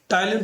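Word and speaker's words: Ptyalin: टाइलिन तो सबको पता है, पी यहाँ पे साइलेंट है।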